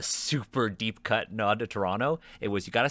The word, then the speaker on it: Toronto: is very explicitly toronto the only mistake they make is that they don't say it properly they see toronto the entire time i get it for accessibility purposes but you got to have at least one character say toronto you gotta 100 agree um